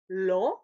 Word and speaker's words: lent: Oui, lent, d'abord le A nasal, lent, ensuite lèvres étirées, lin, et finalement le O nasal, long.